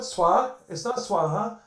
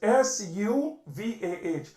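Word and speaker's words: स्वः: It's not Swaha, or it's Suvah, Suvaha, that which brings you happiness.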